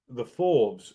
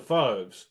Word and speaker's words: Fauves: This is Dave from Amplify, and I am talking to Andrew from the Fauves. Yeah, how do you say Oh, it? Fauves. The Fauves, the Yeah.